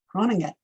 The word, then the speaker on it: Groningen: And it looks like, well, it looks like Groningen or Groningen, but how it's really pronounced because of that G is Groningen, Groningen.